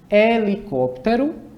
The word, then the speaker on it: helicóptero: a mais uma palavrinha helicóptero também iniciada com a consoante H mas iniciamos a pronúncia com o som da vogal é hospital a hortelã só